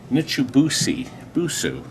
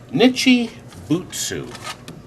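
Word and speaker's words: Nichibutsu: radical R Radio by nitoy busu gosh I actually sounded it out Kur isn't that awful what a great name Nichi botsu that is the right way to say that now we never did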